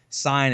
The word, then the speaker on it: Saiyan: new to the series, sign is the right way to say it, not saying you've been lied to all your life.